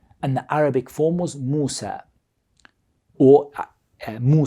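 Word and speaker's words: موسى: original language they in they immediately brought it into a proper Arabic pronunciation of that name and they gave that name an Arabic form and the Arabic form was Moosa or mooo say these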